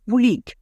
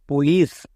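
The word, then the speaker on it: police: এর পরে ই আছে সি এর পরে ই আই ওয়াই থাকলে সি এর উচ্চারণ টা সো এর মত হই তাই এখানে কি হলো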